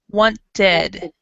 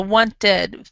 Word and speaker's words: wanted: ed sound so it's wanted want so so the same is that one the t or d plus e d makes the E D sound exactly so wanted but for example with